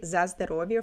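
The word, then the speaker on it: за здоровье: I'm going to speak for myself, but um like people do say zazovia for health when you're like in the family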